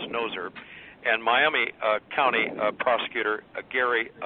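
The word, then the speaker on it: Gnozer: It's spelled G-N-O-Z-E-R, but I think it's pronounced Noser.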